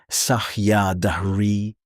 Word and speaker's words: Saya dari: Let's expand your introduction to say where you're from Saya dari pronounced Sah ya da ri This means I am from.